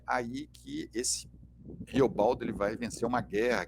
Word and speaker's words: Riobaldo: personagem chamado riobaldo né riobaldo na pronúncia caipira r o bardo e bardo significa poeta